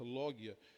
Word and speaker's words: logia: E logia, né, no grego, logia não se pronuncia com o G, como nós lemos aqui, mas se ler logia.